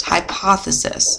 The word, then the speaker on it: hypothesis: to write a hypothesis this is pronounced hypothesis if you want to